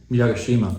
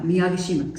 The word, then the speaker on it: Miyagishima: And we could it's uh uh I'm going to mispronounce his name. Miyagishima? Miyagishima. Yeah, Miyagishima.